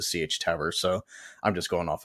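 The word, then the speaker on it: Sietch Tabr: which is CH tabber I I don't know if that's actually how you pronounce it but that's what it seemed like uh people were calling it and I think actually saw a recording of uh Herbert kind of narrating or maybe he was he was just talking about certain parts of the story and he himself pronounced it CH tab so I'm just going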